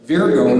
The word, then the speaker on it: Virgo: There are people in certain cities and pockets that talk like that in the U.S., but Virgo is the proper pronunciation.